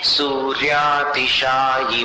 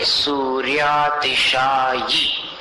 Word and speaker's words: सूर्यातिशायि: सूर्यातिशायि महिमासि मुनीन्द्र लोके। सूर्यातिशायि, ये बोलना है, उसको ई नहीं बोलना। अभी जो आप बोल रहे हैं ना, सूर्यातिशायी महिमा, ई जैसा सुनाई दे रहा है।